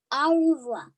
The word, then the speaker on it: au revoir: i tell my fans au revoir you say it like this that's french for goodbye on my door i